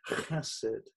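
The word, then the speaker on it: חסד: love, which translates the Hebrew word chesed, H-E-S-E-D, pronounced chesed.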